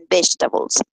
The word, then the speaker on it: vegetables: This is the correct pronunciation, vegetables.